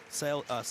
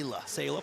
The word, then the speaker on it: Sayla: Sala, how do you pronounce her name properly? Sayla, pardon me.